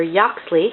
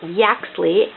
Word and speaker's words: Yaxley: was pronouncing it right whether it was yaxley or yoxley and it is yaxley with a pronounced as you would pronounce it in cat so there's the axley and he is a